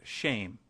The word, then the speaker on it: Shem: for name which is Shem pronounced shame we might as well